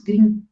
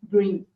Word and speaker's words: Grimm: coletou, por exemplo, Irmãos Grimm. E é Grimm, não é Green. que o pessoal tem o costume de falar irmãos Grimm, mas Grimm seria a pronúncia em inglês, então irmãos Grimm, da Alemanha, né?